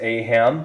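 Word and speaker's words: Ayham: is Phil it's um it's pronounced a ham so it's a y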